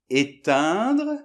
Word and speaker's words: éteindre: Donc le premier, éteindre - Éteindre ! - Et le deuxième, étendre. - Étendre ! - Voilà ! Donc c'est la nasale qui change, donc je sais c'est